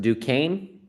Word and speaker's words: Duquesne: They're pronounced Duquesne, and they're Yeah, going to they're going to lose it to Boston College.